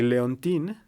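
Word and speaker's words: Léontine: Y Leontín, que se escribe Leontine, tuvo su propia serie entre 1910 y 1912, como esta chavita colegiala que hacía maldades a la gente, ¿no?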